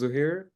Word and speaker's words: Zuhair: and what you do my name is zohir like people call me zohir because it's just easier to pronounce I'm from Pakistan and